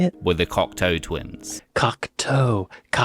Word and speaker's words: Cocteau: Cocteau, toe, foot toe, Cocteau, body parts, Cocteau, body parts.